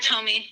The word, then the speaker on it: Tomi: You had mentioned Tomi. If is that how you pronounce it, Tomi? Yeah, Tommy.